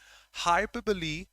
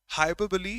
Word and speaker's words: hyperbole: friends it's not self-contradictory hyperbole that's the pronunciation hyperb it's not hyperb hyperboy is a figure of